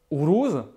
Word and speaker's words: Uruz: La deuxième, Uruz, se prononce OU, non pas U.